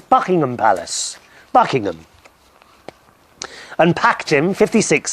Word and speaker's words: Buckingham: 20th of April uh we were talking about Buckingham Palace it's not Buckingham Palace it's bucking Palace Buckingham and ptim 56 says yes Chris I absolutely